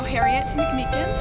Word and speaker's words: Harriet McMeekin: har MCM say say your name again oh Harriet MCM how do you spell it h a r r i e t